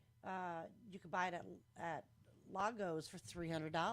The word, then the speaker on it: Lagos: You could buy it at Lagos for $300. Lago. It's it's spelled like Lego, but I figured I'd just play it safe.